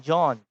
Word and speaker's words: Jean: Kasi French yung Jean. John. Pag pronounce mo yung Jean, John.